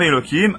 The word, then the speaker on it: Elohim: Bizarrement dans la Torah, il est écrit Yud Kevavke, mais il se prononce comme même Elohim.